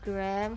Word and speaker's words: Anna Graham: Her name is Anna Graham is pronounced Graham.